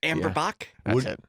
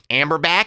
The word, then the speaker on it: Amber Bock: the name of that beer and Hammer Zack amber Bock that's how you would pronounce what did you call it amber babbling like this you have a amber back amber man that's right in Canada you see